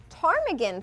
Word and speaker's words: Ptarmigan: Monday, December 31st at Ptarmigan Pub with the Silent P is transformed for After Dark concert sponsored by Bud Light.